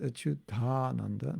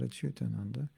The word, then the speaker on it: Achyutananda: And the reason it's pronounced Achyutananda, not Achyutananda, is because you are combining two words, Achyuta and Ananda.